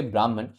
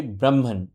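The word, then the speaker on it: ब्रह्मन्: और the universal soul I would not से ब्राह्मण the correct pronunciation would be ब्राह्मण ब्राह्मण ब्राह्मण है वो है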